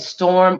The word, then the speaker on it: Storhm: You can find me on Facebook at Storm. Storm is spelled STORHM. ARTISTE.